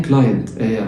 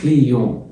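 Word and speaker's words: client: زبون اللي هو بالانجلش اسمه ان كلاينت مش ان كلا هنا ان كليون كليون الاي اللي هي الاي بتنزل اي تبقى ان كلي ان كلي التي ما بتتنطق والا ان بتتنطق ا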